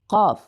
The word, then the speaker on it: ق: the space or the area between your palate and your tongue is going to be larger than letter Kaf. So let's practice together this letter. Repeat after me. Qaf, Qaf, Qaf.